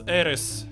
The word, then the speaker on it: ARES: What does I believe it's pronounced ARES?